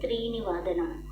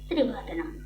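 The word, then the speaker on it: त्रिवादनम्: We don't say Trini Vadanam. We will say Trivadanam, 3 o'clock.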